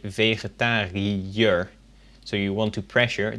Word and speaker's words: vegetariër: That is to separate the sounds of the I and the E, because normally if you put an I and an E together, you get the sound E.